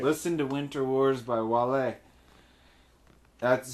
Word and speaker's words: Wale: Listen to Winter Wars by Wale. That's spelled. It looks like whale. Yeah. But it's not whale.